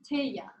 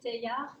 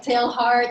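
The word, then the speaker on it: Teilhard: taya de chalda okay this is french so write this down first name t-e-i-l-h-a-r-d and it's pronounced taya everybody say after me taya okay good because it looks like tail heart and i don't want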